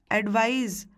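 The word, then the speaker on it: advise: एडवाइस मैं स बोल रही हूँ, एडवाइज में मैं ज बोल रही हूँ।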